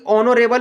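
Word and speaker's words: honourable: एन का यूज करेंगे, इसलिए कि ऑनरेबल में दोस्तों एच साइलेंट होता है, सेंटेंस का शुरुआत ओ से होता है, तो ओ आपका भवेल है, ठीक है।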